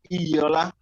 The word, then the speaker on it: Iola: So it's actually Iola. Iola. Yeah, Iola. So the O there is kind of like you're saying or, like this or that.